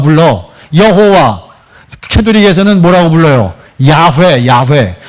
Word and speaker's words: 야훼: 야훼. 원래 발음대로 하면 야훼가 더 가깝대요. 저도 그냥 신학교에서 다 공부하는 건데 원래 야훼가 가까운데 우리는 여호와.